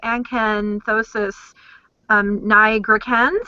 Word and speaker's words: Acanthosis nigricans: So let's talk about the Acanthosis nigricans. I hope that I said it correctly. You actually pronounced it very well.